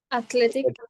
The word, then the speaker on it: athletic: was one word that was a stress in the second syllable who remembers what was the word that had the stress in the second syllable athletic Athletics yes okay so